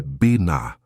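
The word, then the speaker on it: בינה: A palavra é Biná. A pronúncia é Biná.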